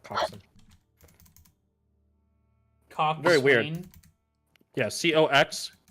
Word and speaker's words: coxswain: Coxswain is just how it's spelled, but it's pronounced coxswain.